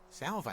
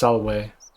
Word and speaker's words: Salve: Salve, stranger, and welcome. He's still to our pronouncing it little wrong. Slice of the Empire. It's Salwe.